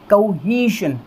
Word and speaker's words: cohesion: अब देखिए यहाँ पर एक बार आप बोल करके देखिए किस तरह से हम इसको प्रोनाउंस करेंगे, कोहेशन। स्ट्रेस देख लीजिएगा, स्ट्रेस कौन से साउंड पर है, ह वाली साउंड पर है।